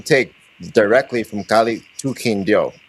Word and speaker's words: Quindío: Now, when did you start traveling to Quindío? I think you said you call it Quindío. Is that right? Quindío. Quindío. Quindío. Yes, yes. Just want to make sure I'm pronouncing that right.